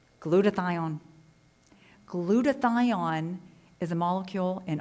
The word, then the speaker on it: glutathione: And it's pronounced glutathione, if you want to be proper in the pronunciation.